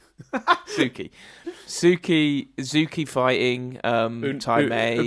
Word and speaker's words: Suki: Sushi? How do you say Sushi? Suki.